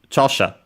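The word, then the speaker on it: 著者: ki we have studied chasha accented on the first uh syllable which means author or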